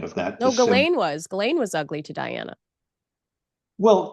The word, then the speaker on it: Ghislaine: the correct way is Ghislaine. Ghislaine is the correct way to pronounce her very ancient name, as it is a name of very ancient origins in France.